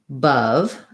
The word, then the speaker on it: above: hold it long enough i like using the word above as an example because i have two different spelled letters in this word but it's they're both schwa so i have an unstructured schwa uh and then a stress schwa above so it sounds like above same vowel but this one is short and this one is long so above above hopefully